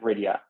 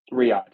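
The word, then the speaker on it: Riyadh: he just won at Riia. Riad. Why am I saying Ria? Riad. I need to learn how to pronounce uh cities and names correctly. But Riad, I knew it didn't sound right in my head.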